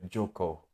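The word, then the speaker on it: Jocko: um Jackal willink's book Jacob willink is like a Draco yeah like uh you spell it Joko like j-o-c-k-o willink um extreme ownership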